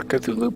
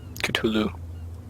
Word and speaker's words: Cthulhu: something new all right I got one more Cthulhu point or Cthulhu I've heard some do pronounce it that way I like us we